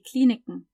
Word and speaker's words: Kliniken: See, I'm not saying die Kliniken, I'm saying die Kliniken. That's how a native German speaker would say it, Kliniken.